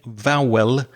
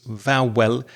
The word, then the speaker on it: vowel: The way you said vowel sounds like two clear syllables. Vwell I would say it like this. Vow. Vow sounds.